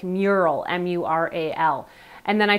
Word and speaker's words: Meural: name I found that Alexa had a hard time recognizing commands regarding mural and I wondered if it was because of the spelling because the devices name is spelled meu RAL I decided to change it so I changed the spelling inside the Alexa app of the name of the device to the more phonetic mural mu RAL and then